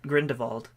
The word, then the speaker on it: Grindelwald: a veto calling it it looks like a German name or Eastern European of some sort Baltics but my least